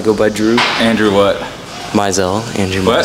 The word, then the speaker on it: Mizell: Mizell. Andrew what? Mizell. Andrew Mizell. How do you spell that?